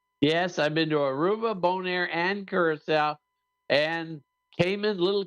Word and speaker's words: Bonaire: I heard him say boner. No, he said Bonire. Well, that's if you put that little upswing on the end of it.